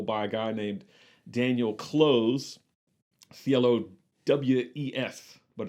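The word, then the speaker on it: Clowes: a guy named daniel close c-l-o-w-e-f but it's pronounced like close like c-l-o-s-e yes like glenn close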